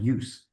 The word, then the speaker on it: ius: And that word use is pronounced just like that, use.